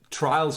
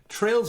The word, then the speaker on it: Trails: Trails of Cold Steel, not so much in my opinion. But yes, it's spelled Trails, which is trails, not trials.